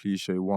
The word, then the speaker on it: Cleeshay: And plug in find me on the socials, Instagram Cliche1, TikTok Cliche1. But it's spelled, it's not. So so it's spelled not like the dictionary way. Cliche, CLEESHAY, and just one, literally Cliche1.